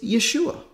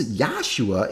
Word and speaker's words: Yeshua: The shortened form of his name is Yeshua, not Yahshua. Now, this Yahshua is an attempt to